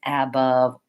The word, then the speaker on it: above: short long above about so try to think of this as being an up maybe even rewrite it above about so your brain let's go of trying to pronounce that a as an above above above you really want to get that light unstressed up above out among etc